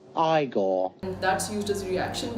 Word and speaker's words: Igor: on no it's pronounced Frankenstein you must be Igor now it's pronounced igore and that's used as reaction GIF a lot